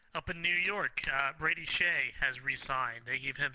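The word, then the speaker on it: Skjei: Uh, the name might throw you off because it's spelled Skjeej, but it's pronounced Shea.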